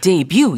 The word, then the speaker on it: debut: but t is silent. 그렇죠? 이게 무음이 되기 때문에 debut 이렇게 말하더라고요.